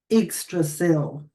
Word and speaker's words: Yggdrasil: Yggdrasil, that's how you say it.